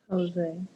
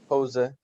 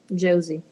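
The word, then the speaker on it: José: For example, So how do we say that name with the J sound like an H? Imagine that, pronounce it in English, but instead of pronouncing the J, use the H. Jose.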